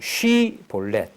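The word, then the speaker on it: 쉽볼렛: 하면 그에게 이르기를 시볼렛 여기 원어 교정을 보면요 시볼렛이 아니고 쉬볼렛 그러니까 쉬 발음이 되느냐 시 발음이 되느냐 그 제가 대구에 공부하러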